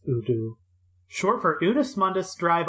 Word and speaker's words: U-DO: Udu, pronounced Udu, short for Unus Mundus Drive Operation, or One